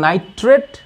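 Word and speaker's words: nitrate: সুতরাং এই যে নাইট্রেট, ট্রেট উচ্চারণটা হচ্ছে ট্রেট হবে, নাইট্রেট, নাইট্রেট। আর এই যে নাইট্রাইট, নাইট্রাইট, এই যে নাইট্রাইট, এই কারণে এটা হচ্ছে যৌগমূলক।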